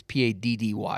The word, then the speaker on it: Paddy: some Irish man got mad at me because I said St. Patty wrong? Well, it's weird because like in the U.S., you always say people spell it Patty as Patty, but really it's Paddy.